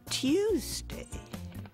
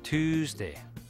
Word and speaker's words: Tuesday: For example, we used to say news and Tuesday. Now that Y sound is gone, and it's news and Tuesday.